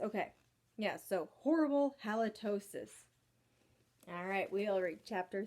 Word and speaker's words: halitosis: life of me halitosis I have to keep like going back to its lot like mitosis I guess it rhymes halitosis mitosis okay yes so horrible halitosis alright we all read